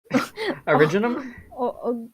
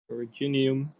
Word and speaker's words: Originium: Originum? Virginian. Originum? Originum? I say originum. Originum arts? Originium. I don't say originium, okay? I say I say it wrong, all right, and I'm fine with it.